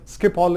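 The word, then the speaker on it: Schiphol: main airport International Airport of Amsterdam is the Skip Hall International Airport s c h i p o l or h o I forget but skip all is the is the is the way pronounced skip all International Airport what were they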